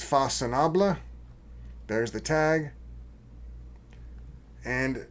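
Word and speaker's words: Façonnable: Fasinaba. It's French and it's pronounced Fasinaba.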